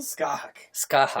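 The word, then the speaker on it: Scáthach: And how do you pronounce her name? Skahak.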